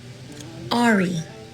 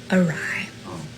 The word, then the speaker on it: awry: I pronounced it Ari. I knew she was getting ready to say that. Ari. Awry. I was a grown adult when my younger sister corrected me.